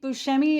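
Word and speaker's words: Buscemi: Steve Bushi.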